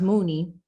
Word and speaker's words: Muni: it's a filipino word and it means it's pronounced mooney and it means to think deeply from within